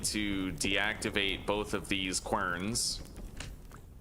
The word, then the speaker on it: querns: All right, we now need to deactivate both of these querns. Apparently they're pronounced kierns, but that just no.